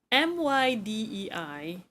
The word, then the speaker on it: Mydei: When that guy came out, I pronounce his name as Midday, right? Because it sounds cooler. And unfortunately, in the game, because I'm playing on English dub, they it is pronounced as my D, and I'm like, my what?